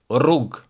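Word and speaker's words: rrugë: On the other hand, the double r is very strong.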